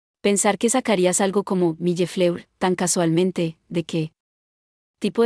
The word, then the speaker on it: millefleur: Si no hubiera oído la manera correcta de decirlo, probablemente lo habría pronunciado algo así como milleflou, asegurándome de no revelar este pensamiento mío.